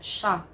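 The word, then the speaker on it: siya: note of the word Shah here it's it's pronounced as Shah Shah is actually a pronoun used for our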